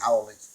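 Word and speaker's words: haole: that i know is howling pronounced howli meaning without breath it's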